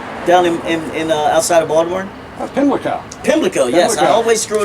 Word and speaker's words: Pimlico: Pimlico.